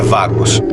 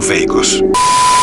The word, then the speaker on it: Vagos: A pronúncia é Vagos e não Veigos.